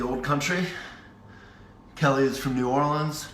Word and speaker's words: New Orleans: country Kelly is from New Orleans New Orleans is one syllable Nolan's Jill from Denver Kim